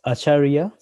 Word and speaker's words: Acharya: say your last name for me uh it's acharia acharia okay thanks yeah people confused with acharia akaria because most of the people call me